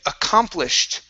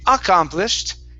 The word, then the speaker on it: accomplished: is uh the word accomplished right here so our stress is here in the middle instead of saying accomplished it's accomplished accomplished accomplished okay very